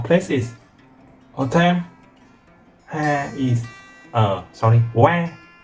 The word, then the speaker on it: は: Ha is wa. I know it's written ha, but pronounced as wa.